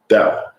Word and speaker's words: Tao: Oh, isn't that pronounced differently? I was going to let you finish, and then I was going to tell you that. What is it? Tao. With a D?